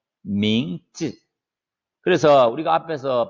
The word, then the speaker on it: 名字: 민즈. 자, 쯔는요, 뒤에 아이가 모음이지만은 성조가 없어요. 그러면 가볍게 그냥 쯔 하면 돼요. Z 발음만 하면 되는 거예요. 민즈.